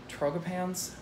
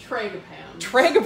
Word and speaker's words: Tragopans: Correct me on the pronunciation. Trogopans? Tragopans.